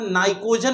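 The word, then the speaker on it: pnictogen: 15थ group को नाइट्रोजन family या इसे हम नाइकोजन भी कहते हैं। क्या कहते हैं? नाइकोजन। पी साइलेंट है।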